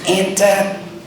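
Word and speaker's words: Antia: Lee good afternoon everyone my name is pronounced Ana a n t i a my last name is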